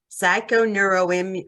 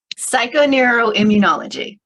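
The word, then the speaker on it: psychoneuroimmunology: Knows psychon in Immunology psychoneuroim whatever I'm missing a syllable what am I missing Julie help me with that word psycho neural Immunology oh I was close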